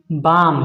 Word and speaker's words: balm: पढ़ो पढ़ो, बाम लिखा है। क्या लिखा है? बा, एल साइलेंट है। जब कभी भी एम के पहले एल आता है तो एल को नहीं पढ़ा जाता है, ध्यान रखना।